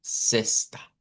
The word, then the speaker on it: sexta: Que es el señor Camilo Sexo, igual que ese apellido, ve, vamos a pronunciarlo como en vez de o sexta.